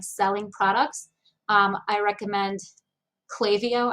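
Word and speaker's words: Klaviyo: products um i recommend clavio i think that's how they pronounce it k-l-a-v-i-y-o i think it's that's clavio but i'm not 100 sure they have like a funny way of pronouncing it um so are you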